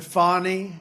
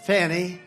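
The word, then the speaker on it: Fani: But one after another, you had Fonnie, F A N I, which is usually pronounced Fanny.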